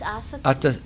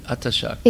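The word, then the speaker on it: āsakti: How do you pronounce it? It's asakti. Atta Shakti.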